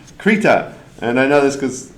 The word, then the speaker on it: Krita: Uh, we were talking earlier about how is it pronounced and it's pronounced kittita and I know this cuz I hung out at the booth with the lead developers for a long time.